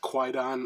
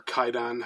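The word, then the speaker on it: Kwaidan: this, the Criterion Blu-ray, that is Kaidan, or Kaidan, however you prefer to pronounce it.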